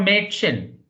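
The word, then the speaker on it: Mädchen: Now medicine, medicine is the pronunciation.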